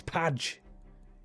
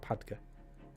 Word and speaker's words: Padge: It's Padge. That's just how it's spelt. It's a silent E to the point where you don't even need the E. It's Padge, not Padga.